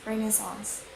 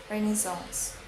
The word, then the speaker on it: renaissance: And in American it's renaissance. In British it's renaissance.